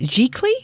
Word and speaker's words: giclée: Giclée?